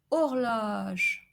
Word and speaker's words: horloge: So we have an open O, éloge, which means praise, or horloge, horloge, which means clock.